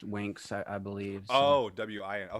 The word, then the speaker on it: Winx: it's it's pretty good it's w-i-n-x but it's pronounced winks i i believe oh